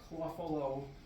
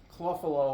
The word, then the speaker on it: Clough: of those they're they're cluff numbers cluff is my last name c l u g h my relatives pronounce it Ru tough cluff I there's a they're